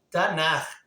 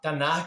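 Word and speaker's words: Tanakh: E segundo o judaísmo, tanto o ortodoxo quanto o messiânico, não pronunciamos os manuscritos antigos como o Antigo Testamento, mas como Tanar, tá? Tanar, que é um acróstico de TNK, Torá, Nevim, Ketubim, que é Torá, Lei, Nevim, Profetas e Ketubim, Escritos.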